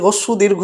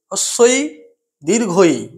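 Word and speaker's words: হ্রস্ব ই দীর্ঘ ঈ: আমরা বলতে হস্যু দীর্ঘ অনেক সময় বলি, কিন্তু এর প্রকৃত উচ্চারণ হচ্ছে হস্যই দীর্ঘই।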